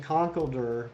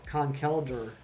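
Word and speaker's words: Conkeldurr: i've been saying concalder but it's uh khan kelder which i mean that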